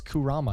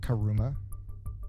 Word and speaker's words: Kurama: I couldn't find it it's Kurama not karuma Kurama yeah jeez I think